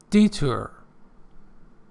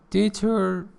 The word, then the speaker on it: detour: uh get romantic okay deter deter the first syllable is stressed is a roundabout way